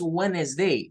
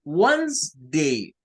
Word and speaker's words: Wednesday: Entonces, no es Wednesday, no, es Wednesday. Wednesday. O si lo prefiere, Wednesday. Wednesday. Solo son 2 sílabas. 2 sílabas y no más, ¿verdad?